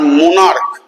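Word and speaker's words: monarch: দুটো মনে রাখবে, স্টমাক আর মোনার্ক। এই স্টমাক পাকস্থলী, মোনার্ক রাজা, এইখানে দেখো সিএইচ উচ্চারণ ক হয়ে যাচ্ছে, এখানে কিন্তু আর সিএইচ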